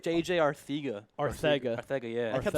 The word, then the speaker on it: Arcega: I always pronounce JJ's name wrong. The Yeah, the it's announcer Ar- was saying it It's right. JJ Arthega. Arthega.